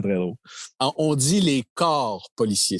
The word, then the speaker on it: corps: On dit les corps policiers. C'est important de bien prononcer corps policiers.